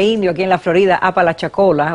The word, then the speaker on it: Apalachicola: Debí decir Apalachicola, pero lo que me salió fue Alapachicola. Esa es una ciudad india, tiene un nombre indio aquí en la Florida, Apalachicola, o sea, el nombrecito se las trae también.